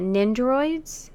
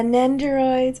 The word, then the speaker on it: Nendoroid: then both smashing me are the nindroids fat how you pronounce it yeah nendoroid I love it I